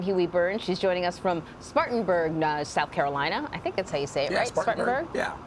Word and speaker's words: Spartanburg: She's joining us from Spartanburg, South Carolina.